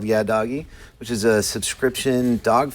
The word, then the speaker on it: YaDoggie: YaDoggie.